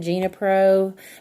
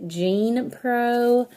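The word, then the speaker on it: Genepro: got the name wrong I said Gina pro but it's actually Jean pro g and e PR 0 got this at amazon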